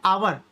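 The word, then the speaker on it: hour: यहां पर आ जाओ भाई, ये आ गया आवर। आवर में देखो क्या आ गया? ए की साउंड आ गई, क्योंकि एच यहाँ पर भी साइलेंट होता है, तो यहाँ पर आने गया एन।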